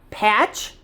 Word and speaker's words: patch: We don't hear the T. We don't say mat, pat, pit.